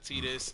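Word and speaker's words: Tidus: and uh Lulu Waka tetus and Sophie I don't see any Intruders tetus ice I pronounce it in the Japanese fashion in which case T is T not Tha oh okay oh and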